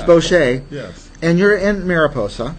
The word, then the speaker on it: Boche: Uh Bosch. Boch. As if it were French. All All week we've been saying Kin Boch is coming, but it's Bocher.